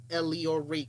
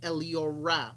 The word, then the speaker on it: Eliora: no uh ransom it is not at the leo ray camp it is at the elio ra with an a so t h e e-l